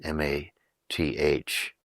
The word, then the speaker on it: math: In India, if we go into the academies of learning, which are known as a math, M-A-T-H, it's pronounced as math.